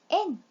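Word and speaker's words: 円: 원이라는 소리로 읽을 때는 엔, 둥글다 라는 뜻으로 읽을 때는 마루이라고 읽지요.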